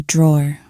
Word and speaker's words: drawer: Like I said, be careful, because in British English, we don't pronounce the EE at the end.